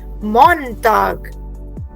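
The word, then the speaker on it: Montag: everybody repeat this woken टागर okay Ursula now let's start with the very first word for मंडे in German we से मॉनटाग मॉनटाग everybody repeat after me या मॉनटाग सो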